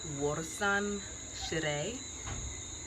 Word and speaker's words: Warsan Shire: I had Twitter help me with the pronunciation of the poet's name. Warsan Shire.